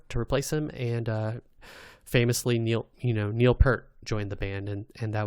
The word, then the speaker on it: Neil Peart: This is like another like Rico Kasich thing that like people like roundly mispronounce his name. Peart? It's Neil Peart.